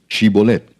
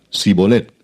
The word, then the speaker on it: Shibolet: Si él respondía, "No, entonces le decían, "Ahora pues di Shibolet." Y él decía sibolet porque no podía pronunciarlo correctamente.